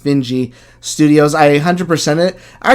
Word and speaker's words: Finji: by i think it's called finji pronounced benji studios i 100 it